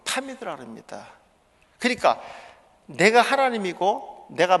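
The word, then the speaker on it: תמיד: 타미드. 타미드라고 읽어요.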